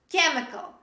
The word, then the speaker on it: chemical: We pronounce C. Character. Say with me, character. Other similar examples. Chemical.